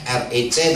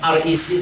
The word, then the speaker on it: REC: biasa disingkat RE REC tapi bacanya bukan keinggris-ingrisan. Biasanya kan kalau reform Exodus Community kan kelihatannya kayak Inggris gitu kan ya. Bacanya aja Reform Exist Community gitu. Tapi saya bacanya bukan REC tapi RE gitu aja.